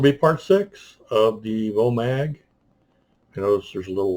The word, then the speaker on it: VOMAG: to spell it right it's pronounced with an F so it's full mag um dust Works 8.8